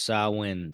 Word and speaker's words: Samhain: Pronounce sawin.